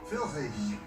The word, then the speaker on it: Pfirsich: 끝의 발음 프가 들어간 단어를 보겠습니다. Pfanne. Pfirsich.